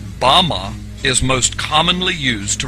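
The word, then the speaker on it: בָּמָה: is Strongs Hebrew word 1 1 1 6 pronounced ba ma ba ma is most commonly used to refer to a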